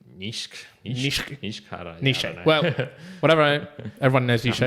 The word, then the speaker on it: Nietzsche: Nietzsche? No, it's in German it'd be like Nietzsche.